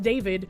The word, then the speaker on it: D4VD: D4VD, pronounced David, whose legal name is David.